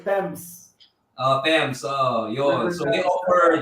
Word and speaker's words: Thames: Thames, there you go. Yeah, oo. Thames. Oo nga pala kasi British, no? Hindi. Oo, parang basa ko Thames. Pag narinig ko sa iba, parang hindi Thames. Right, Thames.